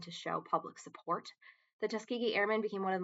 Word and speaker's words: Tuskegee: The Tus um I never know how to pronounce this. Tus Tuskegee, that's how you do it.